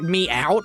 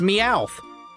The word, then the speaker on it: Meowth: I do not pronounce it like Meow. It's Meowth.